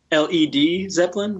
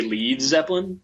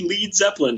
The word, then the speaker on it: Led Zeppelin: name so it's l Leed Zeppelin right because if they had it actually like you know people would say lead Zeppelin oh yeah like they purposely misspelled their name so people be like we're going to see lead Zeppelin tonight right so sorry that's another